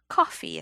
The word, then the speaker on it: Ko-fi: Something that I will be adding probably to the spiel is I've created a coffee account for us.